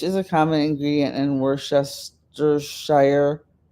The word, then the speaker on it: Worcestershire: Fish is a common ingredient in Worcestershire. Worcestershire. I pronounced it right.